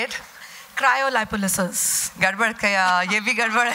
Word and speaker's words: cryolipolysis: Cryolipolysis. Gadbad kaya, ye bhi gadbad hai. There is actually a far cleaner pronunciation which I'm going to have the gentleman tell you. Cryolipolysis.